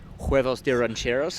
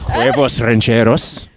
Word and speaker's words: huevos rancheros: Nate and I are a big fan of huevos de rancheros. Huevos rancheros. Perfect pronunciation, by the way.